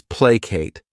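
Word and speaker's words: placate: The next verb is plate. This word has two syllables and the stress is on that first syllable.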